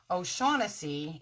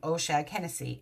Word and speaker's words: O'Shaughnessy: my last name is ocean Hennessy so O'Shaughnessy is how it's pronounced but key and Peele do this bit where they pronounce everything phonetically and so they pronounce my name the last name Osia Hennessy and the funny thing is that the boy